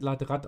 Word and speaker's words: Latrott: Also der Chat sagt, es wird Latrott ausgesprochen.